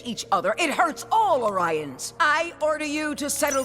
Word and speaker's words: Orion: You tried to steal it from us first, and it's pronounced Orion! Enough! When you pillage each other, it hurts all Orions.